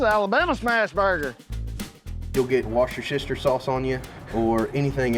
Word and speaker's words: Worcestershire: Or if you're an Abercrombie, it's wash your sister sauce, right? A little bit of that wash your sister sauce. This is Alabama smash burger. You'll get wash your sister sauce on you or anything else if you